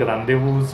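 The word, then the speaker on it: rendez-vous: येताना सूर सोडतो तसे मग रांदेवूज मधला झेड उच्चारात लुप्त होतो आणि चम्स एलीस असं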